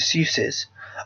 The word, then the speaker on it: Sus: Sus Cousins, a Los Angeles-based sweater designer whose first name is pronounced like Dr. Seuss's.